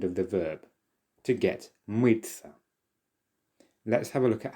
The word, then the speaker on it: мыться: Pay attention to the pronunciation here. It's as if there is a letter ts there. But actually the t soft sign se, ya, it's all pronounced as tsa, mıться.